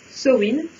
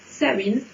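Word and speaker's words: Samhain: Si vous êtes écossais, vous allez prononcer un peu entre les deux. Donc ça va nous donner soit Sowin, soit Sawin, soit Sowin. Au choix.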